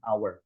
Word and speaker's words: hour: An hour, di sini meskipun hurufnya pakai h ya, tapi harusnya bacanya an hour tanpa h di sini.